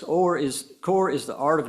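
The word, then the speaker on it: Horry: In my world, rural county, Ori County, Ho R Y, where do you get Orie County? But that's how the locals say it.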